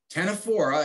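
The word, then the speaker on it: ctenophora: the medusa's pointing down the tenephora as i said just like our extinct pterodactyls silent c though said a silent p we call them comb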